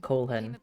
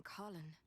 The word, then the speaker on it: Colin: Oh, it's Colin. I've been calling it Colehen the entire time. I need to remember that's like for a few years the way I expect it to be pronounced.